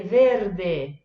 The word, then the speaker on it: verde: Eu coloquei duas palavrinhas simples, uma exatamente igual em português, que é verde, verde, però a pronúncia é diversa. Então tem o R que a gente tem que prestar atenção e o D, verde, que em português a gente fala verde, né?